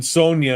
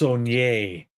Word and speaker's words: Sonye: And she'll say that her name isn't Sonia, it's pronounced Sonye.